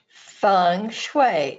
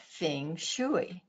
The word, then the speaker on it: Feng Shui: And Judy, we got to make sure we get the pronunciation correct. Feng Shui. It's not Feng Shui.